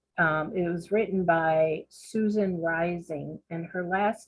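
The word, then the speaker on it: Reising: of Life and it was written by Susan rising and her last name is spelled r e i s i n g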